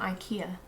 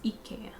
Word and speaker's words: IKEA: from germany and apparently it's not ikea it's ikea she will tell me